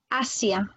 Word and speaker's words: Asia: Alors le S, il va se prononcer comme s'il y avait 2 S en français. On t'écoute, Natalia? Asia.